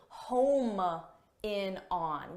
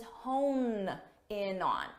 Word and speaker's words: hone: The expression is hone in on. So, make sure you get that both in pronunciation, hone, and in spelling as well.